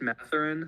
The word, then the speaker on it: Mathurin: Benedict Mathurin. Mathurin, yeah.